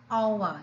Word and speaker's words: hour: say a house but because the h is silent we say an hour the age is silent